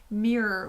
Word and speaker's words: mirror: by the way friends notice how i said mirror with two syllables that's just a little